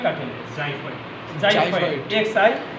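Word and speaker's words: xiphoid: একটা কার্টিনেজ sir extension sir ওইটার উচ্চারণটা স্যার উচ্চারণ জাইফয়েড কার্টিনেজ জাইফট জাইফট এক্স আই পি এইচ ও আই টি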